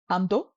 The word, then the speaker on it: Amdo: Amdo, a-do, amdo.